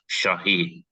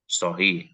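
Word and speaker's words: صحيح: POnya tadi ibu a membaca syahih itu bukan Syah Syah di situ Itu SH SH ya Shahih Nah tadi ketahuan jadi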